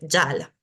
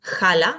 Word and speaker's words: jala: tenemos el ejemplo de Yala no decimos jala decimos Yala siempre estas jas en sánscrito se van a pronunciar como una ya entonces patanjali no se